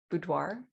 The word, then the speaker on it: boudoir: So she knew how to do portrait type photos, but also that she did, and I'm going to say it wrong, boudoir.